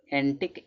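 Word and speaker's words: antique: जैसे यहां पर यूनिक कं यू का उच्चारण क्या निकले? क निकले। यूनिक। यूनिक माने अदिति। फिर यहां दिया है एंटिक।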